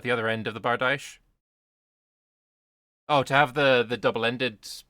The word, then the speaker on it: bardiche: But if it rhymes with quiche, then okay. Bardiche sounds worse, but whatever.